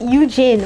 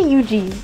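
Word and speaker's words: Yujin: get on with this eugene is that how you say it you jin why'd i say yuji what am i saying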